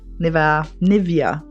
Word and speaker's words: Nivea: I say Nivea cream that I do use. I use Nivea Nivea, I think is another way that people pronounce it quite a lot.